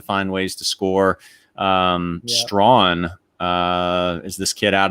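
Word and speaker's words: Strachan: okay so it so it it's pronounced it's pronounced strawn but it's it's spelled like strakin s-t-r-a-c-h-a-n so he only caught a couple of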